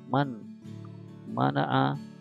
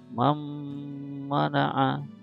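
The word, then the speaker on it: من منع: Jadi bacanya bukan man mana'a tapi mam mana'a, gitu ya.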